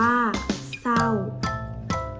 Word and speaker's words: เศร้า: ศาลา ควบ กับ ร เรือ อย่าง เช่น เศร้า อ่าน ว่า เตา ไม่ มี รอ เรือ ออก เลย แต่ เวลา เขียน มี รอ เรีย ใช่ เช่น เดียว กับ สี